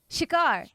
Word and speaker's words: Shikar: Jasmine, will you say the name of the show for me? Shikar. Okay, I was like, I'm gonna say it wrong. And nobody said it, and I'm like, oh my god, I need someone to say it so I know how to say it right.